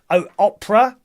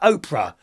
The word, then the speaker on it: Oprah: hub well i went there i typed in opera how'd you say her name oprah i like her i think she's fantastic what